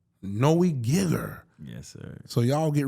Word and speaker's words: Geiger: Geiger.